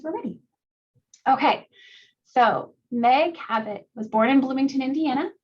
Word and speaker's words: Cabot: Meg Cabot, her last name rhymes with habit, as in her books can be habit forming, which is totally true.